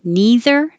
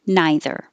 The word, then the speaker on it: neither: Either with an E or either with an I. Either, either. And that would be the same for neither, neither.